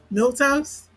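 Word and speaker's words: milquetoast: Milk toast.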